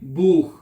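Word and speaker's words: Buch: को क्या कहते हैं बूख सी एच कठ आ रहा है तो क्या आवाज निकलेगी खे की आवाज आपने प्रोनाउंस करनी है बूख जैसे के किताब ठीक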